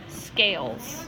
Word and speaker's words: scales: Okay, so this says sk, because the S and the C go together and make a blend. L. And then ales. Because of that silent E, it's going to say its name. Ales. Scales. Good. So that one does have a silent E.